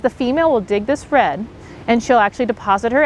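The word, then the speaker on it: redd: they've returned to the creek we'll dig a red red is spelled r-e-d-d and what that is is a nest as you can see here and what happens is the female will dig this red and she'll actually deposit her eggs at the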